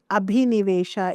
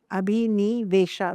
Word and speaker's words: abhinivesha: It means abhinivesha, A-B-H-I, abhi, N-I-Ni, abhinivesha, V-E-S-H-A, abhinivesha.